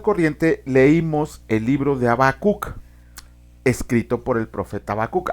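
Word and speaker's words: חבקוק: Pero bueno, el nombre de Habacuc en hebreo se pronuncia como Habacuc.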